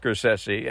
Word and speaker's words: Scorsese: who gets the oil Martin cessi and that's how his family pronounces his name is the director of